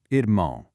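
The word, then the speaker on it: irmão: "Ermão". It's kind of like saying "ear-moan", but with a heavily nasalized finish.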